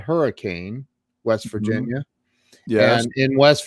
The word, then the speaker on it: Hurricane: refer to it as hurricane they refer to it as hurricane hurricane hurricane hurricane west virginia hey where are you from hurricane really they almost say it in one syllable it's it's really it's